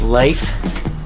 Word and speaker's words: Lafe: My name is Leif and that's spelled L A F E.